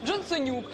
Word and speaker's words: Джонсонюк: жартума його називають джонсонюк бо воно так і читається джонсонюк ось власне мені справді